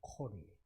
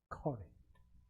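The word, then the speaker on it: קול: 히브리어 콜이. 히브리어 발음이 콜이. 우리가 부른다 할 때 콜라. 발음이 똑같네.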